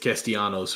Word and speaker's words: Castellanos: Castellanos.